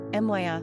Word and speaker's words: Maia: Pronunciation, Miah, Miah.